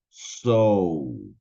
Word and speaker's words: sow: Miren la diferencia las dos primeras es so haciendo una ou so mientras que la tercera es so seca ahí sin ninguna u solamente la o Ok entonces volvamos a